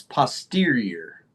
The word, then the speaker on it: posterior: The COG remains posterior. The COG remains posterior. Posterior. It's like a semi, you know, the semi. Yeah, posterior. Posterior. Posterior. There are two distinct sounds after the T, E and ER.